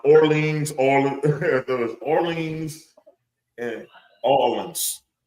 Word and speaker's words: Orleans: New Orleans. Hollywood these nuts. Orleans. It's supposed to be Orleans, but you know us. That shit say New Orleans, but it's Orleans.